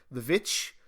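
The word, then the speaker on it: The VVitch: a good horror movie called The Witch or the correct pronounce uh pronunciation of it the vit love that movie one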